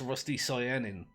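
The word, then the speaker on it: rusticyanin: a rusty rusty cyan apparently i've been pronouncing this wrong for a long time i tend to say um crustacean but apparently that's not how you say that it's rusty cyanine again well it's a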